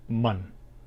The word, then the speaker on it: 们: Now this character indicates the pronoun is going to be pluralized, and it is pronounced mun. It is a neutral sound, mun.